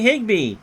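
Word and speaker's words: Higbe: will retire the side kirby higby which does which kind of rhymes with rigby comes into pitch kirby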